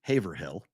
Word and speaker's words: Haverhill: leagues Duxbury is specifically Massachusetts correct Haverhill which is spelled h-a-v-e-r-h-i-l-l it's supposed to be Haverhill but it's Haverhill that's how it's pronounced when